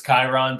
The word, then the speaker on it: Chiron: silent oh god yeah we unfortunately get lots of mispronunciations of our band it's chiron but we were like cheated